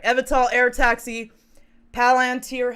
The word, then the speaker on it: Palantir: Palantir, how do you say that? Palantir? Yeah, Palantir.